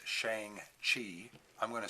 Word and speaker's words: Shang-Chi: Most people are telling me it's Shang-Chi. I'm going to say it's spelled Shang-Kai.